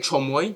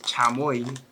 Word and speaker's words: chamoy: Some of you call it chomoy. That's not how you say it. Chamoy.